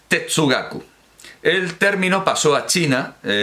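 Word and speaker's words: 哲学: Bueno, pues un calco tomando los ideogramas chinos para Che, sabiduría, y Shue, estudio, pronunciados Tetsugaku.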